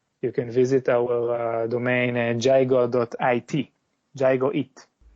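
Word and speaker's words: Gygo: product name is gigo I spell it g y g o like gyro only gigo and the idea is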